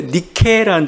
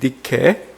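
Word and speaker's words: Νίκη: 나이키가 헬라어 니케를 그냥 이렇게 영어식 발음 다시 음역한 그런 게 나이키입니다.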